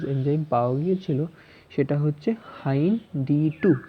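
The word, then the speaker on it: HindIII: এর উদাহরণ হচ্ছে, প্রথম যে রেস্ট্রিকশন এন্ডোনিউক্লিয়াস এনজাইম পাওয়া গিয়েছিল সেটা হচ্ছে হাইন D2। কীভাবে উচ্চারণ করলাম? হাইন, ডি আলাদা, টু আলাদা, এক লিখবো হাইন্ড, হিন্দ টু বলবো না কিন্তু, হাইন D2।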